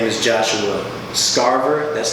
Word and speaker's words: Scarver: let you introduce yourself my name is Joshua Starr burr that's like Harvard with the essent they're so scarce and that's how we pronounce that I am the co-owner of doula